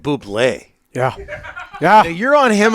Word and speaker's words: Bublé: I have Michael Bublé.